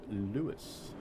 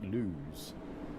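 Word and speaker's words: Lewes: 3.8 mile to Lewis. Now I'm told it's pronounced Lewis. When I read that I think lose. But you know, Lewis is okay. Apparently Lewis is what it is.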